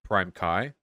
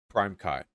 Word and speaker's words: PrimeCayes: It's pronounced PrimeCayes. Thank you. PrimeCayes.